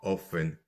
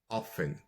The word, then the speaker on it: often: are often delayed alors often qui est un adverbe de fréquence peut se prononcer de deux façons différentes soit often soit orphen voilà vous entendrez selon la région du globe les régions du globe que ce soit britannique ou américain vous entendrez les deux prononciations ok j'en profite pour